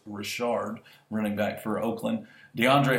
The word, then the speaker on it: Richard: that how that's pronounced not Richard it's Rashard running back for Oakland